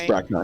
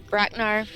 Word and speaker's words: Bracknar: and i see brock i just totally butchered your name it's brackner it's fine bracknar and so i am going